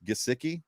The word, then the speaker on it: Gesicki: It's Gesicki, and I can never say it right.